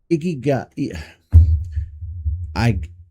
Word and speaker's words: Ikigai: Iga, Iga, Ikiga, I I I this one's hard to pronounce.